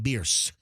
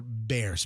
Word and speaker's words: Bierce: It's Genesis of Tampa, which is right at 275 and Bierce, or Bears. Most people say Bears, but it's actually pronounced Bierce, according to the actual Bierce family, who the road is named after.